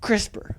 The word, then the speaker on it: CRISPR: Nevertheless, this is a major breakthrough in the sciences and they call this spectacular enzyme crisper but spelled without the e.